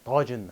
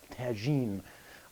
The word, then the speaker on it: tagine: this is called Tajin I'm going to pronounce this correctly it's called Tajin and not Tajin a lot of people in in the west they call Tajin so this is a clay